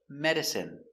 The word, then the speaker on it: medicine: So, we're going to practice the pronunciation of the sound in for I N E. Example, medicine. Margarine.